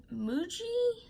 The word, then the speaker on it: Muji: We are going to use this Muji, I believe is how it's pronounced, black pen, and it is the .05.